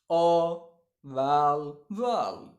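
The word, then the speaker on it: available: हम इसको क्या पढ़ते हैं, अवेलेबल को अवेलेबल बोलते हैं। सही प्रोनाउंसिएशन क्या है, स्ट्रेस के साथ, अ, धीरे से पढ़ते हैं, अ वैल, वैल, अवैलवल, अवैलवल, अवैलवल, स्ट्रेस।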